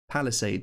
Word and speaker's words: palisade: are they called but palisade sells that's pronounced like someone who helps people out where the Queen lives a palace aid palisade sells and they're found